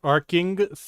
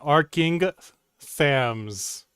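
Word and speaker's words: Arkngthamz: you get that Lilia it's pronounced aring THS Aram into those ruins and UNC their secret no you got it wrong again arcing THS my apologies dream Arham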